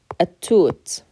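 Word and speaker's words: التوت: And when we pronounce it, we're going to take the ah sound and jump right to that shadda. We're going to skip that lam altogether. So the lam becomes silent. We still keep the lam on the word, and that's because it is still a definite word. But we end up skipping the lam in pronunciation.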